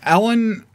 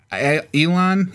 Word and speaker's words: Elon: Ellen Elon. Elon I keep pronouncing his name wrong.